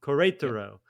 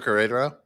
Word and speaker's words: Querétaro: I don't know how to say the name of that Querétaro. Mexican. Querétaro.